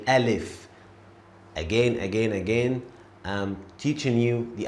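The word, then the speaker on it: ا: And this is how we write Alif. Alif. And this is how we say Alif.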